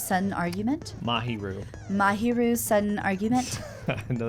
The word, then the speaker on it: Mahiru: Mahiru. Mahiru's sudden argument? I know that drives you crazy, but Does. Well, it drives me crazy that I can't remember. it's just the first syllable, usually. Mahiru.